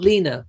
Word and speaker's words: Lena: Yes, Harry was made godfather of Zara and Mike's baby Lena, spelt Lena, but pronounced Lena.